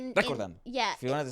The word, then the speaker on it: recordando: but in the phrase you have time to roll your R's. Recordando.